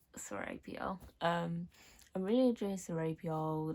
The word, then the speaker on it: Serapio: Scaripo, no, Saripo. He's like my favorite character as well, so why can't I say his name? Separate, wait, I just found it. Serapio.